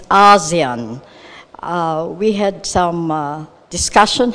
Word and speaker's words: ASEAN: that core message that to pronounce it the same way that say 650 other million people do it and it's ASEAN we had some discussion